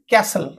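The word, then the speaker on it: castle: देखंतु टी को silent कैसल कैसल अर्थ कोट राजमहल सेंती देखंतु एठी टी को साइलेंट लिस एन लिसन ओके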